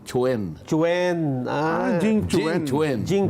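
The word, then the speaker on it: Quan: pero hindi kuhan ang pronunciation gan oo ang pronunciation Chen Chwen ah Jing Chen Chen Jing Chen Chen ayun Jing Chen kaya your excellency ambassador Jing Chwen ka mo huwag mong sasabing kwan o Jing Chwen Oo baka magalit.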